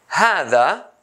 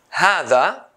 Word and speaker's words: هذا: How I say هذا, هذا, I pronounce ها, ها, but I don't write the long sound a, هذا.